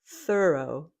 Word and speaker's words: thorough: Next we have thorough. Thorough. Again, this one has the unvoiced th followed by thor. And then the second syllable is o thorough.